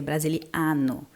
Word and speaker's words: brasiliano: fala em português portugês mas a a pronúncia correta seria Brasiliano com a aberto né sono Brasiliano e